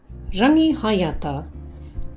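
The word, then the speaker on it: Rangihaeata: Rangi hayata. Ever wondered how to say it correctly? It's not rangihata, it's rangihayata.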